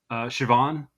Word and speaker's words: Siobhan: uh Scottish name where it's spelled uh s i o b h n but it's it's pronounced Siobhan I mean I'm sure